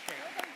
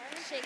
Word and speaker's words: Sheikh: It's pronounced Sheikh. Sheikh.